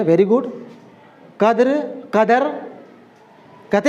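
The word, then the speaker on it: قدر: बस यूँ जानना पड़ेगा, कद्र, कद्र, कद्र नहीं कहते हैं, यहाँ से नहीं बोलते हैं, ऊपर से नहीं बोलते हैं, कद्र यहाँ से निकालते हैं, है ना। काफ का उच्चारण तलफ़ुज़ हम लोग यहाँ से निकालते हैं, कद्र, क, ठीक है ना।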